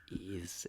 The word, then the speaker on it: Ys: It's ease. It's because of the Sega Master System kerfuffle. Because they put the apostrophe in it.